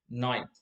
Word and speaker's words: night: the g no so the g is like a silent letter likewise in arabic in